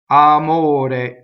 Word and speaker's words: amore: Amore. Closed O. Closed E. Now this is a stressed O. We have to memorize that it's closed.